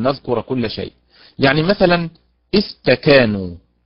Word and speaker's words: استكانوا: يعني مثلا استكانوا، وسط الكلمة تكا، هكذا ننطقها، استكا تكا، وليست استكا، استكا هكذا.